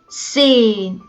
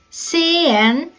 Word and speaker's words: sehen: You can also pronounce this irregular verb like sehen. The Swiss would say sehen and the Germans would say sehen.